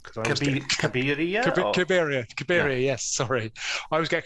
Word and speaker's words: Cabiria: I always get the pronunciation of that one wrong because I always Cabiria.